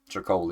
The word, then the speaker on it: Tricoli: Tricoli, that's how you pronounce it.